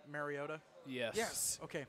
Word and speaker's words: Mariota: Speaking of pronouncing names, does it really irritate anybody else when like national announcers say Mariota? Yes. Yes. Okay, It's thank not you. marinara sauce. It's It's- Mariota.